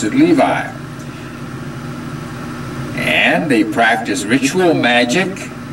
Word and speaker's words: Levi: Golden Dawn, the French Magician, Eliphas Levi, E-L-I-P-H-A-S-L-E-V-I, pronounce it Levi.